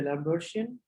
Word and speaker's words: d'Alembertian: There is no D pronounced actually, the Lambertian, which is anyway.